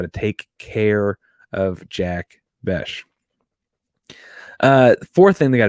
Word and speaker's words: Bech: contain uh Jack bash I've been saying his name wrong a week apparently it's Jack bash and he is really